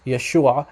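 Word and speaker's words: ܝܫܘܥ: Aramaic dialect it's pronounced Yeshua very similar actually identical to how it's pronounced in Hebrew okay so what he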